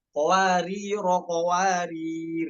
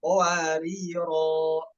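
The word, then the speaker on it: قواريرا: alif ketika wakof ya, kalaupun mau wakof apa dibacanya? Qawariro. Namun ketika kita ingin wasol dengan ayat selanjutnya, maka alifnya dihapus. Jadinya qawariro, qawarir. Adapun qawariro yang kedua, di situ sifar mustadir ya.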